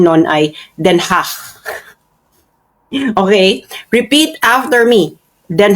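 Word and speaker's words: Den Haag: Ang pronunciation non ay Denhach. Okay, repeat after me. Then ha hindi ke so imagine niyo kayo ay nagge-expell ng plema in a very very light way once again. Then hach.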